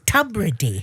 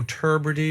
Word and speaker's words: Tubridy: And now I know it's Tubrey. Yes. I never knew how to say it before. Well, it's you've pronounced it brilliantly because not everyone a lot of people go tury or tubbidy or but you're bang on.